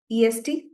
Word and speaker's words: est: Is a, est, pronounced as a.